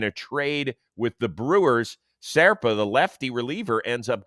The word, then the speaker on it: Zerpa: Serpa.